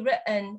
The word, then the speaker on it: written: Thì mọi người lưu ý với cách phát âm của từ written nhá. Thì nếu như chúng ta đọc theo Anh Mỹ mọi người, thì các bạn nghe này. Written. written. Thì vì sao cái này nó không đọc là written? Bởi vì có một quy tắc nhỏ nhỏ, đó là nếu như chúng ta có tổ hợp TN đứng cạnh nhau trong American English, mọi